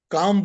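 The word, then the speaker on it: Kama: four words are dharm Earth sorry can you spell it for me dharam is Dharma d-h-a-r-m-a Earth is a r t h calm would be k-a-m or k-a-m and muksha would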